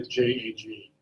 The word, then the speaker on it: JAG: As a first attorney, JAG, it's pronounced JAG or J-A-G?